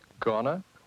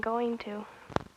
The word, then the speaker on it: going to: Gonna? Oops, I mean going to.